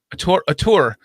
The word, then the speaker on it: auteur: How do you pronounce that? U-tour? Auteur? A tour. It means filmmaker.